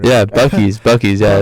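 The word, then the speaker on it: Buc-ee's: as well right see what you don't see boosies as well boosies yeah like a Boosie Badass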